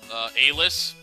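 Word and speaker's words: Alys: And I think the correct pronunciation for her name is Alice. But what sounds better as a girl's name, Elise or Alice? I pronounce it Elise. That's just the way I am.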